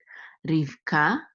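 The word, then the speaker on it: רבקה: So when he was taking, et Rivka, et is just a direct object pointer, and then Rivka is Rebecca. That's how you say it in Hebrew, Rivka.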